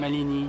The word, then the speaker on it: Mallini: Mallini. Mallini, ouais. Prononciation franco-anglaise, on va dire, qui est donc ce